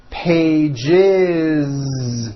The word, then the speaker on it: pages: page becomes two pages with that voiced Z two pages it's not two pages unvoiced no it's two pages with a voiced Z